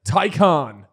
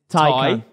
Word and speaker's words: Taycan: No, but Taycan. That's how you say it. That is how you say it. It's no. Thai as in Taycan.